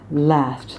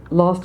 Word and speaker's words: last: the twilight's last and this is a last not lost as a TV show